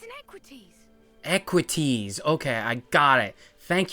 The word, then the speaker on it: Equites: right there an engine sound anyway it's inequities equities okay I got it thank you valid for that pronunciation equities wait the damage to the leg here I